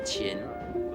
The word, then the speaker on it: Qin: It is pronounced Qin.